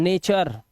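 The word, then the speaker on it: nature: तो लास्ट में अर से पढ़ाना है। नेचर लेक्चर है ना?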